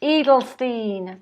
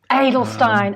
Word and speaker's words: Edelstein: calls me but my last name is actually pronounced in Stine a needle Stein and I'm so sorry